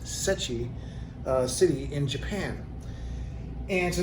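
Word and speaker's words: Seki: these two are from Sechi. I believe that's the right way to pronounce it. It's spelled S-E-K-I, but I believe it's pronounced Sechi.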